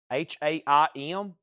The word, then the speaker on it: Haim: 1 2 three four five C copies of h a i m women and music part three and that is pronounced I'm not for sure but that is